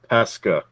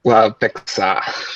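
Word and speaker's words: Peksa: Yeah, I mean, and the Leafs got Ty Voigt and Vyacheslav Peska, I think. If that's pronounced. Yeah, just Pexa.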